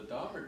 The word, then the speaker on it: Daubert: I know it looks like a French word, but it's based on, I mean, the family that this was in this case, they pronounced their own name Daubert.